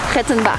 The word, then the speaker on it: Rettenbach: Rettenbach. Hello. You need to pronounce it like the Austrian.